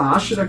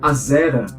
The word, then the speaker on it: Ashera: A deusa Ashera, que em português, devido às nossas traduções, é comum a gente pronunciar Azera, ou Ishtar, como era